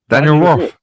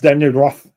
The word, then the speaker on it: Daniel Roth: Because he's not he's not pronounced Daniel Roth. Nobody said Daniel. Part the the H the H is silent in French.